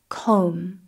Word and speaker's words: comb: Watch out for words containing the combination MB. Here the B is silent. For example, climb, comb.